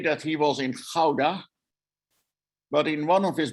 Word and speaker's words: Gouda: in houda and uh or i think you could probably pronounce it gouda you know gouda cheese and born in